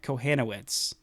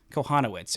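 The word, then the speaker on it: Kochanowicz: know they really saw Jack Kohhanowitz Kohanowitz excuse me is just I've heard 18 different pronunciations and whenever I hear the actual pronunciation of Kohanowitz I think of uh Lilo and Stitch and ohana ohana means family.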